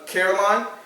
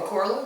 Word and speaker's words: Coraline: it basically I think it's the same people who did Caroline. You saw the movie Caroline? Oh, Coraline?